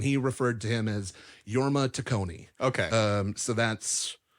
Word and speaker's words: Jorma: a panel and he referred to him as yorma tonei okay um so that's that's how I'm